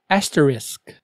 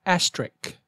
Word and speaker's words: asterisk: tomorrow word number four be sure to say asterisk not asterik example you need an